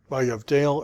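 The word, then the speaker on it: ויבדל: So our first little rule. This is a Begad Kafat Dagesh. And Begad Kafat Dageshes can only appear before a closed syllable. So the fact that this has a Dagesh means this is a closed syllable. Vayavdale. And if you listen, that's exactly how our guy says it.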